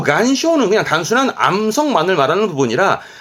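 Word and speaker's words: 岩礁: 그래서 발음이 간쇼입니다. 간쇼. 원래 바위라는 것은 이와라 그래서 바위를 말하는 부분인데 요 간쇼는 그냥 단순한 암석만을 말하는 부분이라 한국어나 일본어는 대부분 앞에 거 이 안쇼를 암초로 씁니다.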